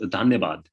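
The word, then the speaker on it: धन्यवाद: It's called Dhanyabad.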